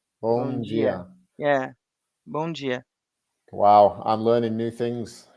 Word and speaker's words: Bom dia: The D has a G sound. All Bom right, dia. okay. Like Bom dia. Gino. Bom dia. Bom Bom dia. dia. Yeah. Bom dia.